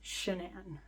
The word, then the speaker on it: Sha'nann: Cheyenne, it's not Cheyenne, it's Sha'nann.